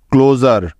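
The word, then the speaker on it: closure: কেননা SURE এর আগে ভাওয়েল উ আছে, তাই SURE এর উচ্চারণ জার হয়ে যাবে, অর্থাৎ এস এর উচ্চারণ এখানে জ হয়ে যাবে। সুতরাং CLU ক্লো এবং SURE জার মিলে হয়ে গেল ক্লোজার। ক্লোজার ক্লোজার অর্থ হলো বন্ধ বা অবসান।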